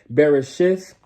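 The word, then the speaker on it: בראשית: hop into Genesis which in the Hebrew will be pronounced barishi chapter 6 for those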